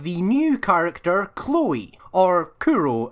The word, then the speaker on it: Kuro: Then the second and third involve the new character Chloe, or Kuro as the shortened nickname version is pronounced in Japanese, and how the heck she actually exists.